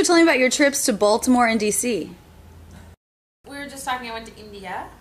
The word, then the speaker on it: Baltimore: two more place names Baltimore stress is on the first syllable so that should be the longest after the stressed syllable